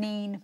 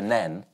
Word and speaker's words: Nene: They've all been mispronounced apart from the River Nen, which has officially settled the pronunciation of its name with a croquet match. I got in trouble for calling it the River Neen on point this once.